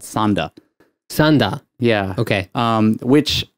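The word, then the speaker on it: 三田: look at it you're like oh this is mita no it's sanda yeah okay oh no this is this is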